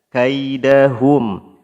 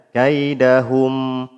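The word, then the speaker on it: كيدهم: Kaidahum hum. Nah, ini enggak pas hum tapi hum. Karena apa? Karena huruf mim pada kaidahum itu dia huruf tipis. Maka kembali posisi mulut seperti mengucapkan huruf yang tipis.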